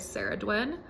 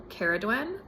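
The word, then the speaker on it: Samhain: her Celtic counterpart is sadwin um or kadn people pronounce it both ways I've heard um but heck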